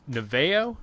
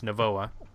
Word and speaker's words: Novoa: actually using the new the navale did I say it right Nevaeh Noah neva neva WA I'm sorry it's Novoa when there's little dots and lines and stuff above letters it always throws me off right right well